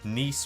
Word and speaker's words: Nice: kids he's thinking about moving to nce France which is spelled like nice and says niece like a child